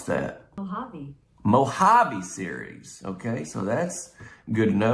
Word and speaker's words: Mojave: It says it's a part of the, actually, how do you pronounce that? Mojave series.